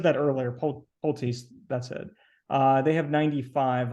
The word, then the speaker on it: Pulte: Is that how you pronounce it? Pulte. Yeah, I knew I was saying it wrong. Yeah, I said that earlier. Pulte's, that's it.